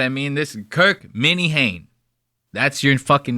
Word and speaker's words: Minahan: His name is spelled Minnie Hain. And they pronounce it the fucking crazy. They go, my name is Kirk Moynihan. You know what I mean? It's like, dude, spell it like it's fucking, or say it like it's spelled.